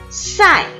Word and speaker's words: 赛: 赛，第四声调，赛。